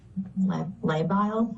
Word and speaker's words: labile: The next sentence here says her mood has been labile. Am I pronouncing that correct? Yes.